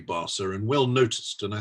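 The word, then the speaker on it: Barça: mispronounce barsa and barker i said barker and well of course that's wrong and it should be basa and well noticed and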